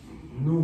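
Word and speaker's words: ν: De hecho, por ejemplo, frecuencia, la frecuencia solemos representarla con la letra nu griega. Ni, el ni se pronuncia algo así.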